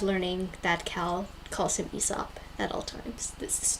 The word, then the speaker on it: Aesop: because we read poems by ASAP uh which is I'm sure everyone knows by now actually pronounced ESOP so that's been a